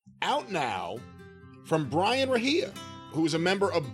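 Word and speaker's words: Rahija: Brian Rahia, let me spell that for everyone.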